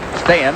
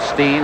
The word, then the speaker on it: Steen: their names said and Thomas stay is the correct way in Sweden I think he's called Steen and Winnipeg here's Middleton hokan Lube